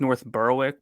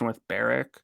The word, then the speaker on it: North Berwick: Also, it's in what looks like North Berwick, but it's North Berwick.